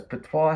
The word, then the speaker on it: patois: Because Patois has a silent T, but I don't think it has an E.